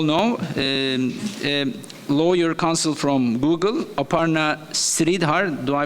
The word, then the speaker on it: Aparna Sridhar: Lawyer counsel from Google, Aparna Sridhar. Do I pronounce it right?